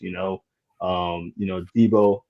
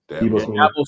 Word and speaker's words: Dabo: tradition and that culture in that school is, Debo is a really good recruiter down there. Debo Swanee, I think I say his name right. I'll be messing up people's names. Sweeney. Sweeney. Sorry, Sweeney. Dabo Sweeney.